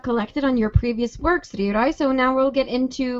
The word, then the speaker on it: Ryurai: Ryurai. That's how you pronounce it, right? Ryurai, yeah.